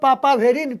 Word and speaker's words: papaverine: So last INE उच्चारण रहउची. So its name is called papaverine, PAPAVERINE, papaverine.